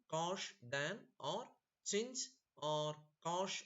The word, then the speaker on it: cosh: And how do you pronounce it? Shine, cosh, tan or chinge or cosh etc.